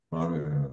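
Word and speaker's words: בבל: 그래서 빠벨이라고 읽는 겁니다. 빠벨.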